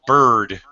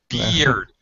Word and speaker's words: beard: Pronunciation, he had a long bird. No, he didn't. Beard. Beer. Yeah, sorry. Like drink beer at the bar. Just add a D, a beard.